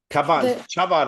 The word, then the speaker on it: Chabad: Chabad, I would say CH like cha. okay. So, you know, so some of the pictures that we find of Trump in the White House are with these Chabad members.